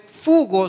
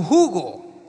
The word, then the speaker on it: jugo: Acepta que le corrijan que no es fugo sino jugo.